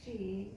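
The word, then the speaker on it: 四: Konko Daijin taught me, people avoid marrying someone who is 4 pronounced she or 10 pronounced June, years different in age because they believe it is unlucky.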